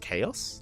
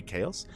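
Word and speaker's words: H4OS: believe it's uh pronounced chaos I believe it's meant to be chaos um but it is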